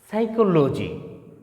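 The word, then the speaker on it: psychology: আ সাইকোলজি অর্থাৎ সাইকোলজি পির উচ্চারণ কিন্তু এখানে পি কিন্তু সাইলেন্ট হয়ে গেছে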